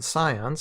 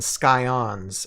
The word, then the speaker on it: scions: last week was the Scions, and okay, this is one housekeeping thing. I know last Wednesday or last time I kept on saying Scions instead of Scions. The C is silent.